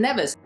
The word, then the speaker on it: Nevis: kitts and nevis it's actually pronounced Nevis not never never said dual island